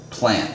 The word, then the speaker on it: plnt: Like I try to tell people that I interact with, and I'm like, it's called plant, and they're kind of like, oh gee. I'm like, well, it's spelled PLNT by V.